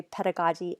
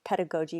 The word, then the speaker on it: pedagogy: So you know the word pedagogy. Some people also say pedagogy. I prefer pedagogy because growing up on the West Coast, that's the word and how it's pronounced usually. But of course, there's different pronunciations. But I usually say like pedagogy, andragogy.